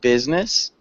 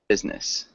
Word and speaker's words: business: One thing with business, we don't really pronounce the I, so it sounds like business.